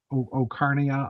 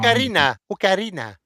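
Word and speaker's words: Ocarina: Legend of Zelda: The Arcanic, the Sorry, Okarnia of Time. I always pronounce that wrong. Okarina. Okay, I'm not Spanish, so Okarina of Time.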